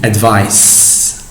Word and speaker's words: advice: advice in terms of pronunciation we have to pronounce it as c advice advice but before we start with the examples